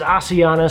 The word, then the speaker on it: Asiana: But having flown Asiana a few times and listening to the cabin crew and the way that they say it, they pronounce it as Asiana, so I think that's what I'm going to go with for the rest of this video.